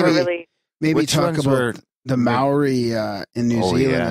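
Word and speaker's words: Māori: First of all, we should ask you how to pronounce it. Maori. Maori?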